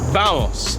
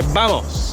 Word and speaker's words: vamos: Our Spanish word of the day today is going to be vamos, which means come on, or like let's go. Spelled with a V, but they pronounce V's like B's. So we say vamos.